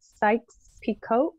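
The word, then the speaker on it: Sykes-Picot: so i want to make sure that i'm pronouncing this correctly when i ask this question is it sykes picot yep okay so ed asks if the sykes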